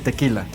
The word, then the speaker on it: tequila: No se dice ni tequilagüer, ni tequisquiapan, ni tequila, ni nada por el estilo. Es tequila.